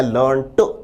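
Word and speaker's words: learned: और विद्यार्थी ध्यान दें इस कॉन्टेक्स्ट में इस संदर्भ में इस शब्द का प्रोनंसिएशन होगा लर्निंग लर्ड लर्नेट का अर्थ है ज्ञानी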